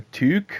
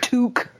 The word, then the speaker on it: toque: A toque? Toque. Toque, not toque. Okay. It's spelled Toque. Oh my God!